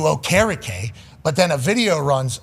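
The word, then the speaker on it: Okereke: complete change of pronunciation from a draft night to midway through season in Okariki who then changes the pronunc uh pronunciation of his name which I'm completely cool with to go back to honor his family and everything like that to okake but then a video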